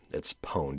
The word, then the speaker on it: pwned: And that is spelled like have I been owned, but it's pwned. It's a hacker term. It's PWNED, pwned.